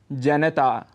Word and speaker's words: जनता: करते हैं जनता जनता लेकिन इसका शुद्ध उच्चारण है जनता यहां पर न में जो अ स्वर है उसको हम छोड़ देते हैं जिसे हमें नहीं छोड़ना चाहिए और पूरा बोलना चाहिए जनता ऐसे ही आकाशवाणी